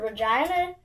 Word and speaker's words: Regina: We've been told that Regina is the city that rhymes with fun for some reason.